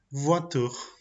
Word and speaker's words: voiture: On a la combinación OI que se pronuncia como UA, UA. El ejemplo es voiture. Tenemos la combinación OI que se pronuncia como una UA, o sea, UA. Y el ejemplo es la palabra voiture.